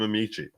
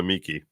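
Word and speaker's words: amici: right introduction interest of amichi some people pronounce it amichi some call it amiki some call it a Mickey those are those are the three different ways I've heard that word pronounced should we see what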